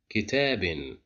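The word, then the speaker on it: كتابٍ: So that's why we pronounce it as kitabin.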